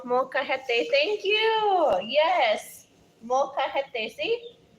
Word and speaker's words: molcajete: the rock is called Molcajete.